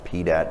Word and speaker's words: PDAT: It's pronounced PDAT if you like pronouncing acronyms.